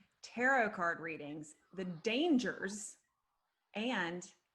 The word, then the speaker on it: tarot: because really that's where these really originally came tarot is a pathway it's a mystical pathworking from